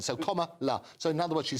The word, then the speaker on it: Kamala: a fortune 2016 comma comma as in the punctuation and La at the end so comma La so in other words